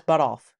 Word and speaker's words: Buttolph: Can you spell that? Buttolph. That's Butoff. That's Butoff.